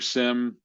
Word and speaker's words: SIEM: Can your SIM or SIEM, depending on how you prefer to pronounce it, handle that level?